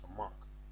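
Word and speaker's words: סמך: this this Hebrew word the way they say s but the way you really pronounce it is samak in thean kadash now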